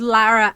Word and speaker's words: Laura: ways Lizzie Annis plays Laura or Laura as they were pronouncing it I think that might just be an accent okay heavy-handed attempt at a Southern accent maybe I heard Lara every time but it is okay